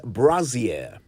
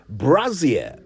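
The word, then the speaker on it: brassiere: abbreviation the word is brazier Brazier b-r-a-s-s-i-e-r-e Brazier not brazier so many people I've heard pronounce it said Brazier but it's Brazier it was originally a French word Brazier which means bodice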